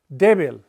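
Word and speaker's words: difícil: deil have it well words that don't end in NS or a vow that would qualify deil doesn't end in NS or a vow are supposed to be stressed on The Last Vow it should be deil deil but it breaks the rule and we have to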